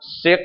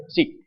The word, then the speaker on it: seq: enclosure it's called the seek so that's how you pronounce seq is not sick but seek um so what's this